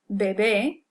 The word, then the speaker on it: bebé: We also have the word bebe here, which is the verb to drink. So he or she drinks, bebe. So yes, these words look almost exactly the same thing. The only thing different is the stress.